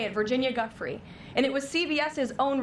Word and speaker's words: Giuffre: Again, to the point about Virginia, I believe it's pronounced Giuffre, like the disrespect to her